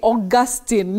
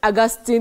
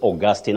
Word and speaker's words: Augustine: Many people say Augustine, but it's Augustine.